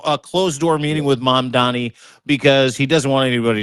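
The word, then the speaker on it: Mamdani: with ma'am Danny and mom Donnie. Mom Donnie mom Donnie that's how you say his name.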